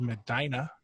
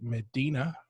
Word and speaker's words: Medina: miss I'm in a nice little city called Medina everyone else would pronounce it Medina but that's not how you say it we